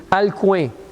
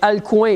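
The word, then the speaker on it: Alcuin: un monsieur qui s'appelle ma prononciation n'est pas parfaite parce c'est un nom un peu particulier alcoin a L C u i n Si tu veux prononcer autrement mais alcoin il a demandé à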